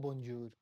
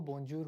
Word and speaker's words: bonjour: पर वो बोंजूर होता नहीं है, उसमें एन साइलेंट होता है। एन की जो आवाज़ निकालनी होती है वो होती है नाक से निकालनी होती है, उसको हमें ऐसे बोलना होता है, बजूर बजूर। एन जो है वो साइलेंट होता है और उसकी नाक से।